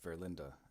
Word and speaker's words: Verlinde: I'm going to go over to some guesses as to what Erik Verlinde's theory means, or Verlinde, that's how you say his name.